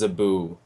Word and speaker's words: Zabu: Um, my name is Zabu. Rhymes with Hey, Naboo.